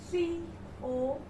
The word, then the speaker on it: cough: Cough. C-O-U-G-H. Cough. Remember, you are able to listen carefully and listen to the pronunciation is cough. Now you will not say khasi, you will say cough.